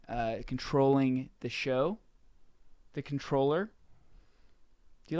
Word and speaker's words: comptroller: government thing where you the word is comp troller but no pronounced controller no if if that